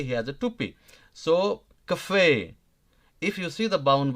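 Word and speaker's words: café: it's bit hard right Cafe Cafe look here in Cafe if you if you noticed give high stress on E because e has the cap right here a small one TP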